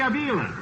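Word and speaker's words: Avila: at second base for the Cleveland Indians Bobby AA do I pronounce that right yeah this is right pronunciation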